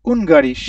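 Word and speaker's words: Ungarisch: এটা উচ্চারণটা কি হবে? বারিশ। উনগারিশ, হুঙ্গারিশ।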